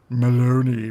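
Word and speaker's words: Belloni: And apparently the mandate is Maloney, rhymes with baloney, which is why I think everything is a lie anyway.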